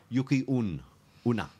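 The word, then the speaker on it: Yuki-onna: You know what her correct pronunciation of her name Masaku? is? No, Yuki or Yucky. Yuki Una.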